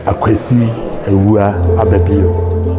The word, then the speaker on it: Akwasi A. Ababio: How am I actually supposed to pronounce it? It's Akwasi A. Ababio.